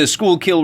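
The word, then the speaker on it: Schuylkill: germantown this is the schoolkill river you can tell i'm a local i know how to pronounce school kill spent about five or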